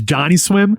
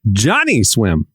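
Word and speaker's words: Johnnyswim: You say Johnny swim. You don't say Johnny swim. I I hit the accent on the swim. You hit the Johnny real hard.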